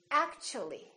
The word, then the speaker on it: actually: again and they change so when the t is followed by a u for example in the word actually we don't say act to we don't say act the T becomes kind of a CH sound so we say actually actually so the T and